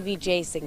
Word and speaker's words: Wijesinghe: My name is Vijayasinghe, and I've heard a lot of different things. She has a hard-to-pronounce name, an easy-to-like personality, and a hard-to-imagine resume.